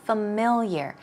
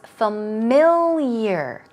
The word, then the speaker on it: familiar: are some synonyms for familiar now keep in mind it's three syllables stress goes right there it's familiar the Y's sound okay let's try two